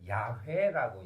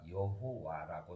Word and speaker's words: 야훼: 또한 하느님을 야훼라고 얘기합니다. 이 야훼를 중국어 성경에 야훼라는 발음을 쓰려고 하다 보니까 여호와라고 써요. 여호와라고 하는 것을 아직도 쓰는 것은 좀 저는 시대에 맞지 않다고 생각합니다.